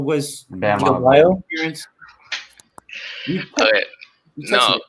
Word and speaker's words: Adebayo: No, you're saying Bam Diabayo was Bam Adebayo?